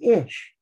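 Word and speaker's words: אִישׁ: olive yoda and sheen that's for men it's pronounced ish for woman it's olive sheen and hay is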